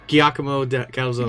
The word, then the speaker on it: Giacomo Calzone: Giacomo Calzone.